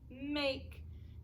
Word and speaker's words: make: Now we know when the vowel says its name like that, it has a silent E at the end. Maybe we don't know yet. We'll learn that. So we'll learn about silent E, but the silent E is bossy. It's a bossy E and it makes the vowel say its name.